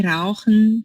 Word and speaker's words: rauchen: Rauchen, mas se você não conseguir falar o R, rauchen.